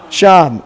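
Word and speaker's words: שָׁם: How do you pronounce it? Sham.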